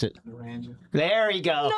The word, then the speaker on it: Naranja: How do you pronounce it? Naranja. There you go. Naranja.